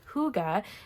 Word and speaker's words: hygge: woodland creatures beautiful florals and nature elements it's pronounced hygge it's a scandinavian concept of hygge sounds like